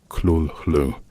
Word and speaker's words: Cthulhu: In various letters, Lovecraft explained that the name should be approximated rather than definitively pronounced, describing it as containing sounds not producible by human vocal organs, but approximated by something like clulu with a guttural quality.